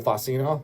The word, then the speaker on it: Fina: Phil on uh guitar, Phil Fina, that's how you pronounce his last name.